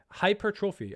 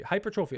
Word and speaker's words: hypertrophy: Hypertrophy. Hypertrophy. Hypertrophy. Is that say hypertrophy or trophy? It is the O is like E.